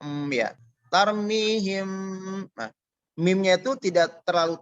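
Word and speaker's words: ترميهم: Nah, cara pengucapannya mim tampak samar, bibir tanpa ditekan kuat. Ya, disertai dengan gunnah. Jadi tampak samar. Mimnya tidak terjelas untuk ya. Tarmihim.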